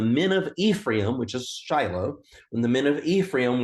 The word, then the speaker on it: Shiloh: what we would call Shiloh he had never heard it with the sh sound he had only heard it pronounced as celu and Ted my friend